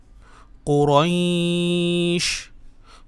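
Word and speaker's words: قُرَيْشٍ: কুরাইশ। কফ পেশ কুরয়া, শিনকে ধরবে, শিনে সাকিন হয়ে যাবে যেহেতু আমরা এখানে থেমেছি।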